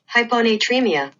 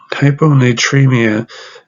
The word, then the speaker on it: hyponatremia: I've tried it a couple times, but let me just pronounce it I'll show you the way Google pronounces this word. Hyponatremia. Hyponatremia.